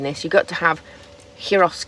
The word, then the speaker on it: gyros: you've got to have heros kebabs or gyros or whichever way you want to pronounce it but it's the